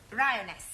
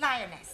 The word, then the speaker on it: lioness: lion roness lioness roness no l l r r you're not saying it right very sorry I know try saying roness lioness good well in future every every time you see an L pretend it's an AR right Anna yeah feminine